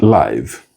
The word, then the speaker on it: live: Then live leave live leave live leave live leave live and live leave live leave live leave live to occupy a space a building